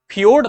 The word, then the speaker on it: fjord: FJORD इसको फियोर्ड pronunciate करते हैं, और यह चिली में ही जो है इसको हम देख सकते हैं।